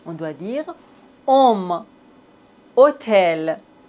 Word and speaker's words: hôtel: Dans la langue française, on ne prononce pas le H comme si ça n'existait pas du tout. Homme, hôpital, hôtel, véhicule.